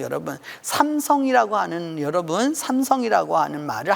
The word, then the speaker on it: 삼성: 삼성 이라고 하는 여러분 삼성이 라고 하는 말을 한국사람은 삼성이 라고 말하지만 세계적으로 삼성 이라고 발음하는 나라는 아무데도 없습니다 그 다 3 쏭 샘 쏭 우리 정말 발음하지 다